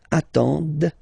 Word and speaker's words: attendent: at the plural form, ENT, but then you don't pronounce them. Ils attendent, okay, so remember you get to pronounce this, d at the end, okay.